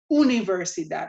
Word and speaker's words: universidad: So the temptation is going to be to say universidad. Remember, the U in Spanish is not U. It doesn't have its name. It's U, universidad or universidad. Universidad.